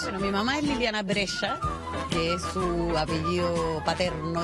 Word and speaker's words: Brescia: Bueno, mi mamá es Liliana Brescia, que es su apellido paterno, digamos. Brescia, como la ciudad, se escribe. Y el dilema era que era un apellido difícil de pronunciar. Entonces le decían Brescia, Brecha, Brescia, Brescia.